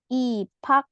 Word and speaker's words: 입학해요: 자, 어, 이거 어떻게 발음하냐면 입학해요. 입학해요. 입학해요. seperti ini.